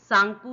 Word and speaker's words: Tsangpo: इस सांगपू की spelling TSANGPO है, जिसमें T साइलेंट है, इसे हम सांगपू ही प्रोनाउंस करते हैं।